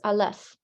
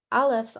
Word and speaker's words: alef: Hebrew letter here is alef and a left is a silent letter it doesn't have a sound it must be paired